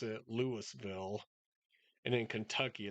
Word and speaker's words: Louisville: So, we pronounce it Lewisville, and in Kentucky it's Louisville, and they're spelled exactly the same.